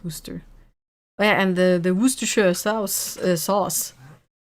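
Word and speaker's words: Worcester: I mean French too but yeah um like from I haven't been to that kind of um why is worister pronounced worooster and the the worooster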